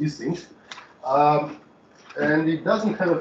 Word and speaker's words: Ising: I think he was German, so I should pronounce it Ising.